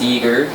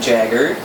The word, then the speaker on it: Eheim: just recently learned that it's pronounced eager not jagger but it's a 100